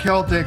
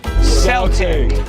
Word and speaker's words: Celtic: in the Irish alphabet the C not just in Latin but also in the Celtic languages is pronounce c everywhere so the rules of Modern English suggest that this word should be said with a soft C and for a long time that's how English speakers said it but that has changed